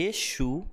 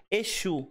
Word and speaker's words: Exu: Echo Echo É Espírito Exu é divindade tem um s com som de ch shl é de a pronúncia é bem diferente de qual religião saiu